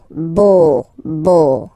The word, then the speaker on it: beau: So remember this E, A, U combination of vowels only give you the sound O, beau, okay, le beau-père.